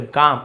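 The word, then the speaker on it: calm: काल में नहीं बोले काम और ब्यूटीफुल या सुंदर।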